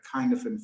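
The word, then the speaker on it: Cynefin: One of the frameworks that I was reminded of when COVID kind of kicked off was something called the Kinefin framework. I think you spell it Kinefin, C-Y-N-E-F-I-N, the Kinefin framework.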